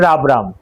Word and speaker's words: rubrum: ফাঙ্গাসটার নাম ট্রাইকোফাইটন রাবরাম। এই রাবরামকে রুব্রাম উচ্চারণও করতে পারেন। ইংরেজিটা এক্সপেলিং RUBRUM, রুব্রাম বা রাবরাম দুটোটাই সেম উচ্চারণ।